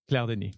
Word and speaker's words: Claire Denis: How do you say it in French? Claire Denis. Yeah, you said it really well.